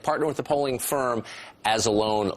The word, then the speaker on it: Anzalone: with the polling firm As-Alone List Grove Research, if I'm pronouncing that correctly. Anzalone. Yeah.